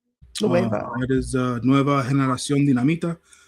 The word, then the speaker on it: Nueva: And for the AAA World Tag Team Title 4-way match, we had Picano and Psycho Clown defeated Nuevo. Am I saying it right? Nueva.